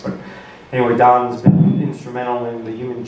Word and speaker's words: Dan: This is one of three seminars that Don Rohme will present. And even though it's spelled D-A-N, it's pronounced D-O-N, just in case you need to know that for whatever reason.